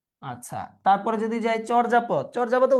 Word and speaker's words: চর্যাপদ: আচ্ছা, তারপরে যদি যাই চর্যাপদ, চর্যাপদের উচ্চারণটা চর্যাপদ হবে, অর্থাৎ চোর দিয়ে লিখতে হবে, এটা আমি এইভাবে মনে রাখতাম যখন আমি অ্যাডমিশন ক্যান্ডিডেট ছিলাম, যে চর্যাপদ চোর।